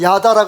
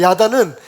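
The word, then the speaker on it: ידע: 제가 야다라 그랬더니 우리 장난꾸러기 김일교 목사님께서 뭐라 그러냐면, 목사님 발음을 잘 하셔야 됩니다. 짧게 야다 하셔야지 야다 그러면 야한 게 됩니다. 그래서 야하다 아니고 야다입니다. 야다는 여러분 들어보셨을 거예요.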